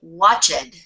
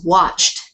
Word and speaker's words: watched: now many people then you'll hear them say watch it and that's in incorrect it is started it's attracted but it's watched practiced so those two don't